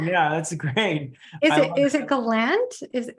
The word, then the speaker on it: Gallant: yeah it's fun yeah that's great is it Galant is it how do you say it well I mean I was saying the Gallant Gallant yeah that's right Gallant but but I think you're pronounced you're pronouncing the the that musical uh